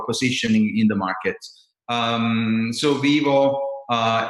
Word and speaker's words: Vyvo: this is the brain the brain is it's pronounced vivo vivo it's a lot e word that is